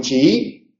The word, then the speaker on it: chií: en en ambos casos tanto en chiita como en chií es la segunda I de el encuentro vocálico la que lleva el acento en la pronunciación pero la tilde solamente